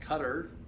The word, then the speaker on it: Qatar: I think this one's pronounced Qatar.